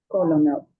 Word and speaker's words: colonel: Colonel. It looks like ko, lo, nel, but it's not, right? So here's kernel, purple shirt kernel. These sound the same, right?